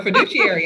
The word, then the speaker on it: fiduciary: thing about first financial is that it's a fiduciary which did i say that right because i say it wrong you did all right for fiduciary absolutely and uh so you know anyone you